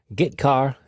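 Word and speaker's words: getchar: i o functions are git car and put car that's how i pronounce them git car fetches a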